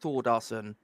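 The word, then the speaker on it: Þórðarson: His name, although it's spelled a little bit weirdly, it's actually pronounced Thordarson.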